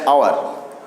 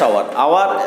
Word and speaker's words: hour: সো আমরা উচ্চারণ করার সময় ওটাকে ইউজ করি আওয়ার, নট এইচটা আমাদের উচ্চারণ হয় না।